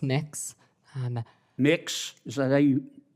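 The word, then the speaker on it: Mx: Cameron tell me what you're you're proposing let pronounced mix um mix is that how you how would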